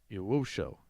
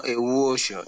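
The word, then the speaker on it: Ewuoso: Yowosho. Is that right? No, Ewuosho. It is Ewuosho.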